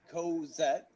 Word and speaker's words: Cosette: Co, as in co-worker, Okay. and vet. All right, As Cosette. in, All right, let me Thank you. let me address you properly then. Cosette.